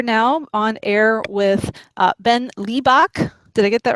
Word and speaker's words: Liebich: It's Liebich. Liebich. Yeah. And my family is German, but from many generations ago. So we've all lost our German pronunciations, and sort of everything's been Americanized over here.